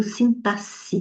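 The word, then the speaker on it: sintaxe: que é saber da sintasse, viu? Snasse tem o X, mas pronuncia com se fosse dois Ss.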